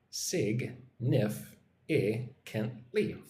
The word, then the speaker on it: significantly: Sig-nif-i-kent-ly. 5 syllables.